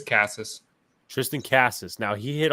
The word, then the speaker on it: Casas: How do you pronounce that? It's Casas.